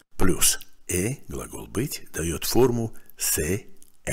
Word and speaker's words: c'est: «Ce» – «это» плюс глагол «быть» дает форму «c'est» – «это есть». В местоимении «ce» выпала буква «э» для удобства произношения. И теперь мы имеем конструкцию, звучащую как «c'est» – «это есть».